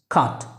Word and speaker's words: cut: এটা কাট না, ইটস কাট। খ এর মতো উচ্চারণ হবে, দ্যাট মিন্স ক, হ্যাঁ, খ।